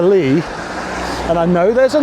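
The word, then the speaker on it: Leigh: about how we pronounce Lee Road? Now, we know what a Lee is, don't we? A flat meadow area of ground. Yeah. And when it's spelled with a gh, it is a Lee.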